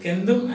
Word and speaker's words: centum: Although it is written C, it is pronounced K, and therefore you call it Kendum, and this is Sadam.